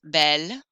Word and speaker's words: bel: The word beau creates a pronunciation problem. If he's a very handsome actor, c'est un beau acteur. Doesn't work. Beau acteur won't work. Can you think of how they're going to make this spelled so that it looks masculine but has a feminine sound? If you guessed belle, but without the extra LE, you're right. C'est un bel acteur.